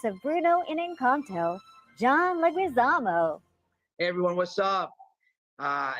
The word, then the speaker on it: Leguizamo: outer space somewhere and it's still pronounced leguizamo thank you very much